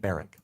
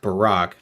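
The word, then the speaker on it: Baruch: advice that Jehovah gave to a man named baric who was baric what can his example teach us it's pronounced Barack first of all and how can the Divine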